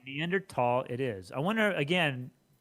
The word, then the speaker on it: Neanderthal: I noticed in all your lectures you use Neanderthal. I've always heard it as Neanderthal. Is it a preference? A preference, and there's no H sound when it's pronounced in French and German.